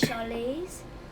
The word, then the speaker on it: Charlize: Because my mum says it like when we're at dentists and that, she says Charlize, like she holds it for like ease.